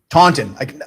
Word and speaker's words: Taunton: Taunton.